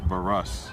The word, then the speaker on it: Barush: That's Dylan Barush that came on. Pretty sure I butchered that pronunciation. Barush is the pronunciation.